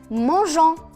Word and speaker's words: mangeons: Pour prononcer je et non ge. Exemple, nous mangeons.